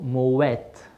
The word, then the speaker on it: Moët: I'm a crafting for more de chandu so Moet should be pronounced with the tea because because originally the